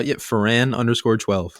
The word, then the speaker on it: Foran: Yeah, Foran_12.